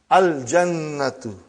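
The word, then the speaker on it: الجنة: Brother, you will pronounce lam. Al-jannatu. The garden.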